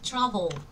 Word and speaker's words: travel: Chúng ta sẽ đọc là invite, dismiss, travel và agree. Vậy nên ở đây chúng ta nhìn thấy thì travel nhấn âm 1, còn lại thì sẽ nhấn âm 2.